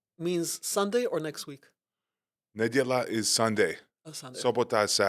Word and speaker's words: niedziela: Nedziela. Niedziela. They say nedziela. Niedziela.